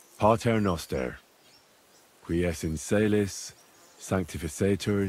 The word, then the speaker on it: Pater noster: You're saying it wrong. Listen. It goes like this. Pater noster, qui es in caelis, sanctificetur nomen tuum.